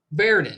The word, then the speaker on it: Verdon: Verdon.